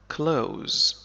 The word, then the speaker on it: close: close سأكتبه هنا I close لكن تستخدم كذلك بمعنى قريب مثلا He is close وفي هذه الحالة ننطق حرف S بس وليس ز He is close هو